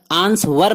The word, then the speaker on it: answer: ANSWER answer, answer نہیں W silent ہے.